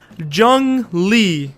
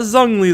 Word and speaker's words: Zhongli: to go with me zhang li yes not zangli like i was saying